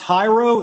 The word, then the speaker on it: Jairo: is your first name is it pronounced hiro is that correct yes correct all right all right good afternoon everyone as todd so graciously introduced me my name is jairo i am a